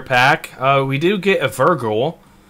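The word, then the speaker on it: Vrykul: We do get a Virgul. Vrygul, I believe actually is how it's pronounced.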